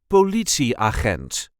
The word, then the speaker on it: politieagent: see how to pronounce politi aent or police officer in English. This is the way we say aent bi. There is a light emphasis on the second syllable.